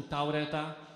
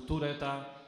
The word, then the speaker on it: Tourette'a: Ale też niektórzy wymawiają zespół Taureta, to się wymawia zespół Tureta.